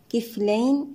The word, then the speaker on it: كفلين: يؤتكم نحقق الهمزة، يؤتكم كفلين، الميم مع الكاف هنا إظهارا شفويا، كفلين الياء ساكنة قبلها مفتوح حرف لين في حالة الوصل، أما في حالة الوقف مد لين يمد بمقدار حركتين أو 4 أو 6 حركات.